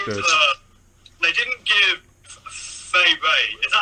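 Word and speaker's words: Fay Wray: They didn't give Fay Ray. Is that how you pronounce her name? Fay Ray?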